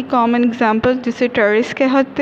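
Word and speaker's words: Pteris: ट्रेरिस, P silent है यहाँ पे, एडियंटम, मार्सिलिया एंड ड्रायोपिटेरिस. अब हम बढ़ते हैं जी टेरिडोफाइट की कॉमन एग्जांपल जिसे टेरिस कहते हैं.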